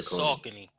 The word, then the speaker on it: Saucony: I don't know how you pronounce Saucony, but those sneakers in that colorway. The Saucony.